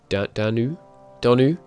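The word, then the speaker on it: Donau: The Donu the Donu, which I guess you pronounce a bit like Danube, so Donu Adribund.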